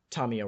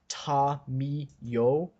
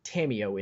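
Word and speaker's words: Tamiyo: It's not that, it's you put full emphasis on every syllable. There's no light syllable in Japanese. Yeah. So you don't have the, like, Tameo, it's Ta.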